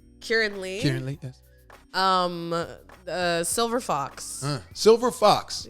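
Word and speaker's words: Keiran Lee: Karen Lee? Kieran Lee.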